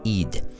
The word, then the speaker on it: Ed: multimillionaire Carla Frank Ludwig ed or in July sixteen eighteen ninety lived until October tenth 1959 was a comic strip artists best known as the creator of Harold teen his name is pronounced heed Harold teen debuted in